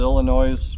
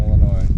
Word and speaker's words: Illinois: They're from the boys, the Illinois. Oh, right. From Illinois.